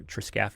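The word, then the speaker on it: triscaphe: one uh joint that's called our triscaffy joint or triccaffy is kind of how it's that word is structured or triscaffy is how we pronounce it.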